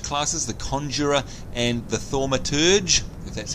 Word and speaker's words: thaumaturge: the two major classes the conjurer and the thaumaturge that's how you say it then we've got